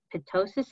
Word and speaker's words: ptosis: Is ptosis of the eyelids? Just silent P. Drop it. Silent P. Ptosis of the eyelids, a known sign or symptom in Marfan patients, and can ptosis of the eyelids impact vision?